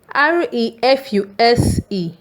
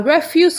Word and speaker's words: refuse: REFUSE. When the stress is on REF, it is pronounced refuse. We have our refuse collected on a Thursday.